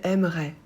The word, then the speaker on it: aimerait: Il aimerait. Elle aimerait. On aimerait. Pour il, elle et on ajoute AIT qu'on prononce est. On ne prononce pas le T.